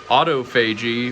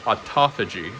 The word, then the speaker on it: autophagy: five or six years more examples of the second syllable rule as described in the other episode Auto FY versus autophagy homeostasis versus homeostasis got a bunch of stuff